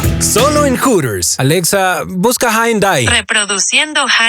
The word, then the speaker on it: Hyundai: en hooters Alexa Busca Hyundai reproduciendo no te confundas se pronuncia Hyundai y lo encuentras en